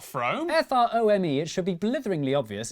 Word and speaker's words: Frome: I think it's from wrong it's not from f-r-o-m-e it should be blitheringly obvious it's pronounced from but if you did say from don't worry you're in good company Froome is officially the most mispronounced place name in